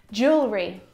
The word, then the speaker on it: jewelry: Jewelry. Jewelry. Jewelry. Again, we've got an extra vowel here that we don't need to pronounce.